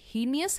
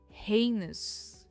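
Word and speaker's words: heinous: यानी कथित next is क्या यह हेनियस है? यह है हेनस। हे पर इसका स्ट्रेस है हेनस।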